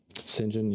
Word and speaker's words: St. John: Sinjin, you're gonna have to edit that little blip out. Sinjin's my editor. He's English. It's spelled St. John.